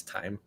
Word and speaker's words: thyme: Wait, so it's actually not thyme, it's time?